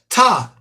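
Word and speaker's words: Ptah: And so some examples of the earliest African method objects include many of the gods and goddesses like Ta. Remember, the P is silent.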